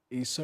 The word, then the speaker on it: Isa: I know that he's known to Muslims by the Arabic name Isa. Have I got to pronounce that right?